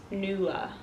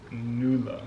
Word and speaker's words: Nuala: that, you know, is spelled like super like Irish, but it's pronounced like, you know. So it's Nuala. Nuala. What caught my eye is the spelling, because I liked all the... And you? Nuala. I would not expect that spelling would be pronounced like that.